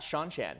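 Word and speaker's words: Seanchan: How do you say Cianchin? Sean Chan is how Robert Jordan said it.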